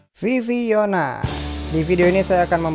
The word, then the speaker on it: VVYN: Poin pertama langsung aja, lagu ini tidak dibaca VVYN, apalagi Vivin. Ini bacanya Viviona. Kenapa gitu?